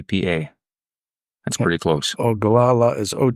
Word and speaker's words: Oglala: very well-known band of the Lakota can you spell that for me h u n k p a PA a that's pretty close oh galala is OG g l a l a h